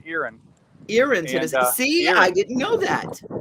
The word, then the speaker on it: Erin: way Deon it's not it looks like Ain e r i n but it's pronounced Erin irin see I didn't know that here in Tennessee